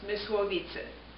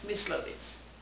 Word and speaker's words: Mysłowice: I was born on July 1930, in the city of, in Polish it would be pronounced Mysłowice. In German it's Myslowice.